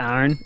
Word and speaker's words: Aaron: And then iron in the middle.